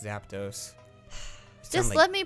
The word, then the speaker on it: Zapdos: get something okay Zapdos we keep saying Zappa dosed just Zapdos just let me pronounce